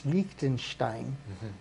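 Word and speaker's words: Liechtenstein: only uh Switzerland but lonstein only you got to say it right it's lonstein and um those guys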